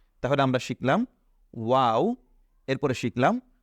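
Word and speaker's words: واو: বা বেগ পেতে হয় না তাহলে আমরা শিখলাম ওয়াও এরপরে শিখলাম হা ওয়াও হা ওয়াও হা আমরা এটা বারবার উচ্চারণ করব প্র্যাকটিস করব তাহলে আমাদের এগুলো আরো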